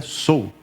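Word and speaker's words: Seoul: mundo Tókio e cuu que eu descobri que não é assim que pronuncia a gente fala cuu né capital da Coreia do Sul mas é sou que fala em coreano que é o que interessa né Eh mas eu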